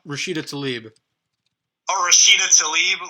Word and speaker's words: Rashida Tlaib: Tlaib Rashad? Rashida Tlaib.